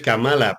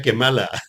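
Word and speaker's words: Kamala: que mala Porque además se escribe camala pero se pronuncia kemala con quemala lo tenemos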